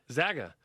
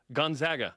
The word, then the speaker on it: Gonzaga: It's Gonzaga. Gonzaga.